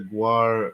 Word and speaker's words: Gwar: did an interview you showed us the the Gwar uh see I'm pronouncing it correctly now yeah we learned something tonight uh you showed us the Gwar uh trailer for your film and then well